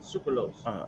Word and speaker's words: sucralose: Sucrose. But it doesn't say sucrose. It has an L. Sucralose. Okay.